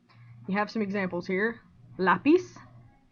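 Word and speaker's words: lápiz: have some examples here lapis you say lapis not lapis right and since typically this word that ends in a z which is a consonant would have the stress on the last syllable the i and it doesn't you're going to put it on the a climax has a stress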